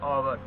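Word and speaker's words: hour: एन लगाएंगे वो कैसे जैसे एन आवर ि हमारे पास य पर एच क्या वो साइलेंट है हमारे पास जो जो आने वाला साउंड जो आ रहा है वो वावेल का रहा ओ का आ रहा है ठीक है आवर आवर ठीक है इस तरह से लाइक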